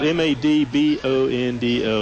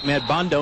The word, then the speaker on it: Madbondo: Well, it's spelled M-A-D-B-O-N-D-O. It's got to be Madbondo.